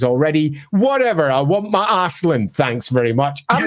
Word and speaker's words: Aislinn: How do they want to pronounce it? Who knows? It's Ash. It's Ashlin. They have Ashlin behind the